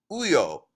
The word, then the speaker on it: Uyo: bind, time stop, the unspeakable, or more correctly pronounced, Uyo, silent prophet, wandering ones, ashen skin Zubera, befoul,